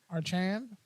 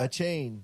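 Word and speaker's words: Achane: Archan? Bruh. A chain. A chain. A chain? I always think there's an R. I don't know why. There is no R. It's ACH. A chain Devin the Chain.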